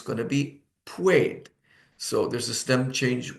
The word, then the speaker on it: puede: UE is pronounced like ue. So it becomes puede, puede.